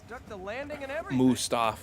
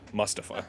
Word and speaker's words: Mustafa: that was dumb but instead of pronouncing it move stuff it's going to be pronounced Mustafa fair enough another secret